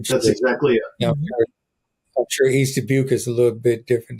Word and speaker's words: East Dubuque: It's East Dubuque.